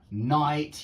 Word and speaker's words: knight: Knife, no, night, we pronounce this word exactly the same as that word, night. Night, yeah, exactly the same.